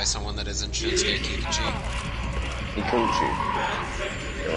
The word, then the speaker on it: Kikuchi: Kikuchi. You're right. Even Scott pronounces it as Kikuchi. For some reason, even though you guys have pronounced it a little better, Kikuchi.